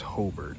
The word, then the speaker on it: Hobart: If you're not from around here, I know it's spelled Hobart, but it's pronounced Hobart, okay?